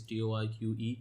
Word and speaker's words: TOR.C.C: How we pronounce Torque is Torque.